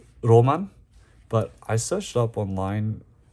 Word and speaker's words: 儚夢: this one is I mean it says here pronounce Roman but I searched up online it could mean fleeting dream I guess H but here it says Roman uh this is the the pink Edition apparently